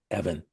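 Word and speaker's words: Evvin: Evan.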